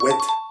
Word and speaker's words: would: What about wid? Wid is a common pronunciation of would.